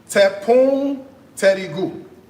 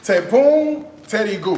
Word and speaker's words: tepung terigu: Okay, what is tepung terigu? It's flour, Like all-purpose flour? like all purpose. Okay. Tepung terigu.